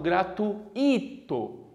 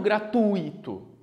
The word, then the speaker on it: gratuito: acento tivesse num é muito comum as pessoas pronunciarem como suas em tu tivesse no i elas falam gratuito e não gratuito como deve ser o correto tá então eu